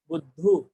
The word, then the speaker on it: बुद्ध: से देखना, ये है बुद्धू। ठीक है, क्या ठीक है? क्या ठीक है? बुद्धू बनना है, बुद्ध, ध पर जोर दीजिए, बुद्ध, बुद्धू, प्रोनाउंसिएशन, हिंदी प्रोनाउंसिएशन।